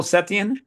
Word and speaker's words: Setien: Is that Yeah, the am I bug pronouncing that catcher. right? Colonel Setien?